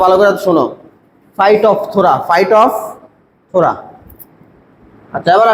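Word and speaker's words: Phytophthora: Fight of থোরা। উচ্চারণটা ভালো করে শোনো। Fight of থোরা।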